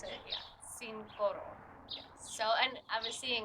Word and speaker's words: Cincoro: Yeah, Cincoro. So, and I was seeing it, the translation is right on the bottle. It's 5 gold, so cinco oro.